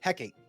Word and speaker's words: Hecate: A cat. How do you pronounce your name? A cat? Kate? Kate? Hecate. Hecate. Hecate. Oh, There you go.